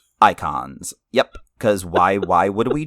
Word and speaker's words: Eikons: are called icons, but if you look at the way that's spelled, it's dumb as hell. Yeah, EIKONS. Icons.